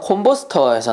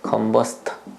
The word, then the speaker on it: 컨버스터: 그 다음 동그라미 3번에 보시면 콤버스터에서 나오네요. 요게 콤버스터라고 나오는데 사실 영어 발음은 원래 컨버스터입니다. 컨버스터.